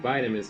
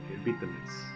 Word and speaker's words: vitamin: vitamins in the UK vitamins in the US vitamins you're losing your vitamins with your vitamin vitamin vitamin bit.